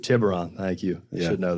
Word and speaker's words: Tiburon: while the I need some help with the pronunciation here Tiburon Tiburon thank you you should know that well the